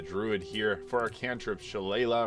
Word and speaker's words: Shillelagh: For our cantrip, Shillelagh, or Shillelagh as some people pronounce it, is incredible early